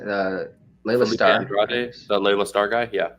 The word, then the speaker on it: Andrade: I think Felipe Andre, am I pronouncing it? Layla Starr. Andrade, the Layla Starr guy, yeah.